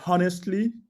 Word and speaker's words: honestly: have one or two you say honestly the age is mutes in america you say honestly and also there